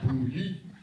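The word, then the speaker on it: Boulud: out, in fact, that boo is pronounced differently than you. Because boo is O-U, which is oo, and L-U-D is you. So it's boo-you.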